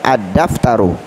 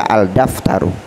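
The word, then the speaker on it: الدفتر: Dal adalah huruf Syamsiah jadi cara membacanya adaptor Uh tidak boleh dibaca Al daftar Um berikutnya Allahu ya artinya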